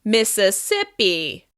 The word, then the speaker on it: Mississippi: This is also stressed on the third syllable. Mississippi.